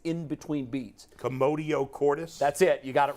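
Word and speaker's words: commotio cordis: it's it's Contracting and it's in between beats commodio Cordis that's it you got it right I didn't even attempt to pronounce it because I was afraid I would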